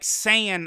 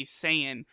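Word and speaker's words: Saiyan: easier for me and even though it's supposed to be like Sayan like sayyan I I just can't like not say sayian but I try and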